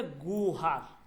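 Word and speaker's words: گوهر: গুহার গুহার কিন্তু আপনি যদি গুহার পড়েন এটা ভুল হবে এটাকে আপনার পড়তে হবে গৌহার কি গো হার কেন কারণ এটা হচ্ছে সে মুরাক্কাব এইযে এই উচ্চারণটা আসবে গো ঠিক আছে দেখেন ওকে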